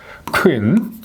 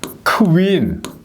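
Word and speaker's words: Queen: 시작해야 됩니다 크 로부터 그래서 아 퀸이라고 이렇게 발음하는 건 잘못된 거예요 퀸 예 퀸 엘리자베스 할 때 이게 퀸 엘리자베스 하면 잘못된 거라는 거예요 예 퀸 해야 돼요 크윈 예 퀸 엘리자베스 이렇게 발음해야 이게 원노인 발음이 되는 겁니다 퀸이 아닙니다 예 꼭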